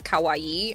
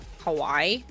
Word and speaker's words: kawaii: had a category and the word was kawaii and they kept pronouncing it kawaii. And I was like, those are two separate words. What you're saying is scary. What you mean to say is cute.